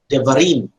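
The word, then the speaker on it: דְּבָרִים: Devarim. This is the plural of the bar. The var is devarim. Now, the tonic, the accent is in the rim, devarim.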